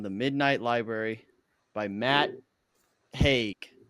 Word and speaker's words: Haig: Midnight Library by Matt Haig. It's got to be Haig, right? Yes. I don't see any other way that would be pronounced.